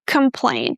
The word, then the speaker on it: complain: Not complain, but complain. Imagine that you go from the sound cu to the sound mm right away. Com com complain. Make sure you stress the second syllable really well. That is going to be easier for you to reduce the vowel in the first syllable.